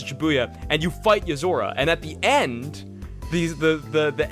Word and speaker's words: Yozora: How do you spell that name? What? No, Nozura? Yozora.